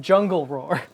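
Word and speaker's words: Djungelvrål: it's pronounced jungle roar.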